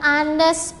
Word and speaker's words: honest: Ya, for the example, an is used if the H is silent.